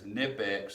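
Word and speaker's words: Knipex: The brand is Nipex, spelled with a K.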